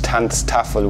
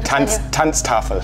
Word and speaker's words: Tanztafel: anything else, I liked the way it sounds, Tanztafel, which kind of sounds like a weird mix between German and Dutch.